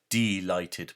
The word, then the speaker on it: delighted: the stark warning: beware, delighted poets. I pronounce it like that because that's what it means. We're talking about deprived of light, not delighted as in chocolate delight.